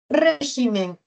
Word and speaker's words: régimen: Régimen. Es esdrújula. Se tilda. ¿Ah? Regímenes. Vemos que ahí el acento se ha desplazado a la sílaba G. Una cosa es régimen en singular y otra cosa es regímenes en plural.